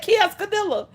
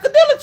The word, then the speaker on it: quesadilla: on that kioskadilla the quesadilla cheese I don't know why can't nobody pronounce quesadilla okay so what is a bunch of syllables but it's just it's like two words quesa DIA nope what's gadilla kioscadilla what